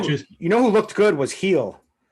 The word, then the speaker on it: Gil: Who looked good was Heel. Gil was what everyone was pronouncing it, but his name, you pronounce it Heel, the new Yankees phenom, the prospect who just had a string.